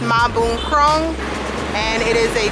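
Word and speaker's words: Mahboonkrong: it's called MBK center for short but it's pronounced ma boom Chrome big shopping center that also has a bunch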